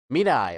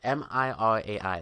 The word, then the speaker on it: Mirai: Mirai, okay. Mirai. That's how it's pronounced.